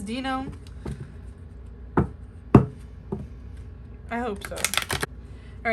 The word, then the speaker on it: Dino: i pronounce his name it's not dino right it is dino i hope so all